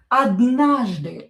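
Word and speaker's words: однажды: Odnahzdy. O not stressed, we pronounce as a.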